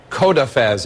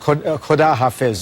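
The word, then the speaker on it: خداحافظ: It said President Rouhani says, "Have a nice day" to President Obama, and President Obama says, "Thank you, Kodafez." If you could you, am I mispronouncing? Holdafez.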